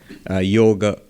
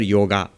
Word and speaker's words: yoga: But the correct pronunciation would be yoga, not a. Yoga. In Hindi you would say yog, in Bengali yog, but never yoga.